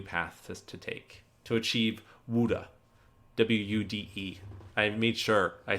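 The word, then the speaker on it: Wude: he's a new path to take to achieve wuda w-u-d-e i made sure i said it right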